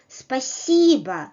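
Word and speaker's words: спасибо: people all right well if you want to say thank you in Russian well you may use one word to in both situations with friends and with the cine and older people speciba espasiba espasiba again don't forget about the full quality of the stressed vowel and the reduced quality of the unstressed vowel and if you want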